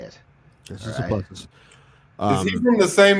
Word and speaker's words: Dricus Du Plessis: Number one, you guys are saying it wrong. It's Dricus Du Plessis. I have a South African friend. I know how to say it. Dricus Du Plessis.